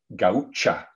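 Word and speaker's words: Gaúcha: oso called sera gancha i believe that pronunciation is actually gaucha in portuguese but i just say goucher because it's in my brain so sarah goucher there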